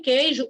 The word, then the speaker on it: queijo: O U é mudo, é que. Olha aí, eu estou pulando o U, ó, que.